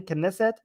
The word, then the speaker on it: Knesset: I can never pronounce it because there's a K and an N. Knesset, I'm saying it right.